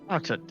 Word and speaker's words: Artud: It's basically Artud. Artud. Yeah. Yeah, he's like Arthur, but if you were drunk and slurring, I get it.